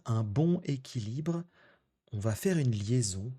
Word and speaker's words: bon équilibre: 3è et dernière expression, trouver un bon équilibre. Alors, vous avez entendu la prononciation, on va pas dire un bon équilibre, on va faire une liaison pour dire un bon équilibre.